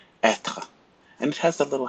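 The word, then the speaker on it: être: this is how you pronounce a pronounce a pronounce it Etra Etta and it has a little hat we call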